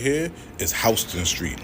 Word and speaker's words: Houston: This right here is Houston Street, not Houston Street. This shit is Houston Street, nigga. House 10, nigga. Houston Street.